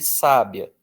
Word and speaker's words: sábia: esse padrão de letras, um brasileiro vai olhar para essa palavra e vai dizer que aí está escrito sabia. Tudo bem? Mas e se eu quisesse escrever sabiá? E se eu quisesse escrever sábia? Bom, aí com esse padrão de letras que eu tenho nesta palavra, eu não poderia contar só com as letras.